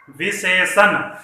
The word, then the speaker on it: विशेषण: ध्यान दीजिएगा, हम लोग सभी बोलते हैं विशेषण, इसमें यहाँ ये न प्रयुक्त नहीं हुआ है, मूर्धन्य न इसमें प्रयुक्त हुआ है, इसलिए इसका जब हम उच्चारण करें तो इस पर सावधानी रखें।